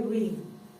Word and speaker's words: read: Se lee igual que rojo. Yo leo, I read.